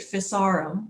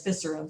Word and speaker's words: Physarum: If you saw the NOVA special or the NOVA program, they pronounced it Physarum, which perhaps is correct, but I learned it as Physarum, so that's what I'm going to say.